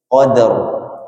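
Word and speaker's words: قدر: Nah, ketika seperti ini qada d-nya tipis, ro-nya tebal. Qadar.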